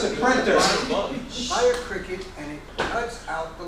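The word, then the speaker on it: Cricut: Well, it's spelled C-R-I-C-U-T. Yeah. So they're pronouncing it cricket.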